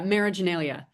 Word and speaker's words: Marriaginalia: Marageneia.